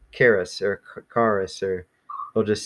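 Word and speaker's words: χάρις: Some people would just kind of make it like sound like a CH.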